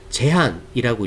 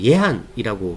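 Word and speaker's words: Jehan: 할아버지를 보통 우리가 제한이라고 읽기도 하고 이제 예한이라고, 만화 영화에 보면 이제 예한이라고 나오잖아요. 근데 보통 제한이라고 읽기도 합니다.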